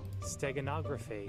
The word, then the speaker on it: steganography: st how do you how do you pronounce this word by the way stegonaga free this sega nography can i can i can i have a pronunciation google steganography steganography uh yeah